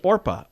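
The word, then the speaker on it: Orpah: name is listed as orpa o r p a a Biblical fig figure it was often mispronounced as Oprah and that just eventually stuck but her name officially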